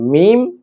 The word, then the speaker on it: م: এই মিম উচ্চারণ অত্যন্ত সহজ। আমরা যেমন বা উচ্চারণ করেছিলাম দুই ঠোট হতে। ঠিক একইভাবে এই মিম দুই ঠোট হতেই উচ্চারিত হবে। যেমন মিম ঠোট গোল হবে না। বরং স্বাভাবিক থাকবে। মিম মিম এরপর যে অক্ষরটি রয়েছে এই অক্ষরটি হল নুন।